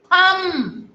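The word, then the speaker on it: thumb: थम, थम में भी बी साइलेंट हो गया।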